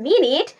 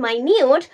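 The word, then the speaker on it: minute: যখন এটার উচ্চারণ হবে মিনিট তখন এটি সময় বোঝাবে, মিনিট। কিন্তু যখন এটির উচ্চারণ হবে মাইনিউট তখন এটি বোঝাবে সূক্ষ্ম, সাটল, B-O-W.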